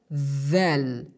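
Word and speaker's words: ذ: So we pronounce it like letter of tha. We pronounce this letter like letter of tha, but with a letter stress. The difference between pronunciation of tha and the pronunciation of dhal is only on stress. We pronounce this letter with stress, with a letter stress, like dhal, dhal.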